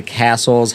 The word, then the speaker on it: Cassell: they actually published a book in the 1860s called The Castle's Household Guide, and it's spelled Cassell. It's Castle, Petter, and Gaplin, and this